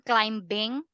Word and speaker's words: climbing: ing is it mountain climbing silent B go mountain climbing yeah climbing climbing yeah we don't pronounce the letter B in English when you say you